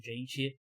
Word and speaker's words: Jeanty: Que eu falo Ashton Jeanty. E eu acho que é a pronúncia certa, João.